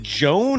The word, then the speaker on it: Joan: his first name is It's spelled j o a n, but I can't imagine it's Is it Joan? Is it Juan? I don't know. Whatever it is, he was the top performer for Minnesota tonight. It's Joan. It's Joan Baringer. That's the problem. It's Joan. Joan. It is Joan.